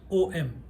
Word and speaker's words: Om: is also not right om actually it is it's one syllable it's one syllable with chandra bindu nadakalita.